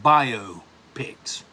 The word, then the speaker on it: biopic: I've heard this mentioned, I've heard this pronounced several ways. I call it biopics. But I've heard it called biopics. I don't like that. I like biopic. Biography, motion, pictures.